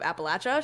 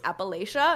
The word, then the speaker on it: Appalachia: York tried to correct me on the pronun pronunciation of Appalachia she was like it's Appalachia and I was like I'm from there who